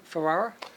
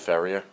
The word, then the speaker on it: Ferrier: With me is Kenny Ferrara. Kenneth Ferrier. Ferrier? Is that how it's Ferrier, okay. yes, pronounced Ferrier.